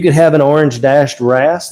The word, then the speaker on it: wrasse: So you could get it like there he is, over there with the blue cleaner wrasse.